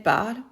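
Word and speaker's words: parlent: Finally, add ENT for il, elle, and get il parle, elle parle. It's that simple. Notice how we do not pronounce ENT. Il parle, with ENT at the end, sounds just like il parle with an E at the end.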